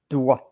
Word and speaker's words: doigt: So singular or plural, you pronounce it doigt. And you are writing it like this one, with or without an S, whether it's singular or plural. And it's DOIGT. And there is also DOIT,